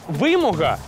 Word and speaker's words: вимога: Слова «вимога» чи «вимога» та «судно». Чи все ж «судно»?